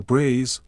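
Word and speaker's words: braies: The brays, pronounced brays, are simple and practical.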